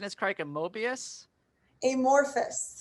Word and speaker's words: Amorphous: of his new album uh um am i pronouncing this cricket mobius amorphous amorphous okay i'm so dyslexic sorry comes out february